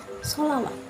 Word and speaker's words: selawat: Napas, salat, selawat tulisannya, tapi bacanya tetap sholawat.